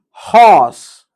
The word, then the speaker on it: horse: Horse. Horse. Here, we should not pronounce r.